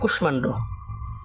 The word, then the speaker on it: কুষ্মাণ্ড: দেখো, বাংলা ভাষায়, বাংলা ভাষায় এমন অনেক, এমন অনেক সংস্কৃত শব্দ আছে যাদের ম ফলা যুক্ত, ম ফলা যুক্ত বর্ণের উচ্চারণ, বর্ণের উচ্চারণ সংস্কৃত, সংস্কৃত, সংস্কৃত রীতি মেনে হয়, রীতি মেনে হয়ে থাকে।